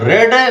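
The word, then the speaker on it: read: Third form होता है रेड, meaning वही रहेगी। इज a book being रेड, इसका उच्चारण रेड होता है, मीनिंग वही रहती है, रीड वाली।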